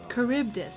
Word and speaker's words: Charybdis: Charybdis.